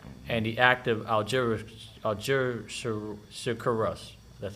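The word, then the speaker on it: Algeciras: in Morocco 1880 and the act of Algeria algerus that's how you say it algerica Russ that's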